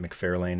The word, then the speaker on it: McFarlane: There's a certain way to pronounce it. I've always pronounced it McFarlane, and I always will.